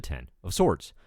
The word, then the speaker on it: X of Swords: x-men comics may follow so what is the 10 of sorts as it turns out X of swords pronounced a no swords which is a reference